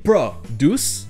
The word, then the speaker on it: produce: Quand ce sont des noms, tout comme le désert, desert, ce sera la première syllabe qui sera accentuée. Donc vous aurez conflict, un conflit, conflict, et produce, un produit, produce.